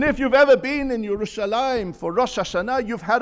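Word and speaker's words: ירושלים: But you know, the name Yerushalayim is quite remarkable. It's a kriyuchtiv. On 669 occasions, it is mentioned in Tanakh, spelt Yerushalayim without the yud before the final mem, but we pronounce it Yerushalayim, whereas everyone else calls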